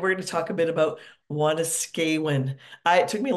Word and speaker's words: Wanuskewin: and we're going to talk a bit about Wan skan I it took me a long time to learn how to pronounce this wanas skan Heritage Park which is located in Saskatoon and